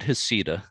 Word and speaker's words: Heceta: And we went to Heceta. Do I pronounce that right? They pronounce it Heceta. Heceta Head. Yeah. Heceta Head.